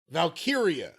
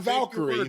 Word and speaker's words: Valkyria: what's In My Head it's Lyra valkyria not Valkyrie for it valkyria well it's very curious